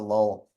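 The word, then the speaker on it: Llull: it earlier but Raymond LOL was actually and I I always cheat on his name because the the Double L and the Double L is more like a y so it's a yo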